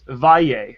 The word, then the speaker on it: Valle: Suzette, you have 2 ways to pronounce your last name. Let me try and pronounce it in Spanish. Valle.